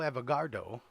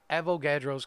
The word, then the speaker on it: Avogadro: The constant that we use was named after Amido Avogadro.